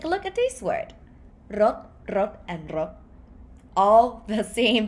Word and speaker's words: รถ: word, you say รถ There's no sound coming out of your mouth anymore. It's not like a sonorant ending consonant like ron. See? So rot, it stopped.